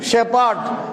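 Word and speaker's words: shepherd: পি এইচ ই আর ডি ই আর ডি শেপার্ড শেপার্ড আর উচ্চারণ হবে না শেপার্ড নয় শেপার্ড আর সাইলেন্স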